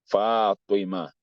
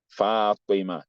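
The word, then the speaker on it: فاطمة: You can pronounce after me. Tariq. Taha. Fatima. Fatima, not Fatima.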